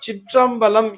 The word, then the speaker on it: சிற்றம்பலம்: இந்த சித்து பிளஸ் அம்பலம் என்பதுதான் சிற்றம்பலம் என்று உச்சரிக்கப்படுகிறது.